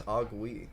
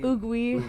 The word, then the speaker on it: Oogwé: So, but we still insist on the accent on the E for some reason. Yeah. Because otherwise it's like, I guess. Because if there isn't an accent, it's Oogwé. Yeah, it's ugly.